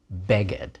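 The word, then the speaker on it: בֶּגֶד: see in the Bible words with a pair of a vowels like Beed especially like to put the accent on the first syllable beged all right olive bet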